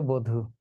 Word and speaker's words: বধূ: কিন্তু দীর্ঘকার থাকার কারণে বটা বো হয়ে গেল, শব্দ হয়ে গেল বধূ।